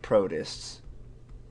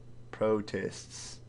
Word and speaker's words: protist: members that used to be in this group protists protests protests that's just gross I know so a